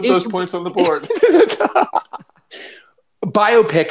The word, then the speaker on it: biopic: I've pronounced this as biopic. Like, you do not. Like about bio. You do not. Honest to God, I don't have to tell you. I do. So you've always pronounced that biopic? That doesn't make sense. Not like biopic, like it's some kind of myopia.